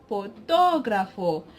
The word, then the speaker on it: fotógrafo: take the word this word it will be pronounced fotógrafo because the acute is on the oath we